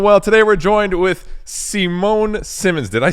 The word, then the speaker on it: Simone Simons: Today we're joined with Simone Simmons. Did I say that right? Yeah. The Dutchies would pronounce it as Simon Simones, but I go with Simmons is fine.